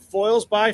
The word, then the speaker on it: Foilsby: Again, our friends at Foils by Float Co. Use the passcode FOILSBY or Foilsby, depending on how you want to pronounce that.